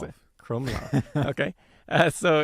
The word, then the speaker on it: Krumlov: And then now we're getting on to the Krumlov Castle in Czech. So they have the bear moat, which it's not really clear when. Close. Okay, how do you pronounce it? Krumlov.